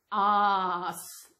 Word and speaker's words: arse: Arse. You know, like R, A-R-E, R, so it's arse.